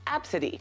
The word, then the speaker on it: Abcde: laughed and pointed at her spelled ABCDE it's pronounced AB City Tracy says the agent even took a photo